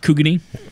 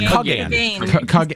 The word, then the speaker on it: Kugane: It's pronounced Kugane. Kugane. I'm sorry. I thought it's Kugane. Kugane. I'm sorry. Kugane. There you go. Kugane. That's what it was.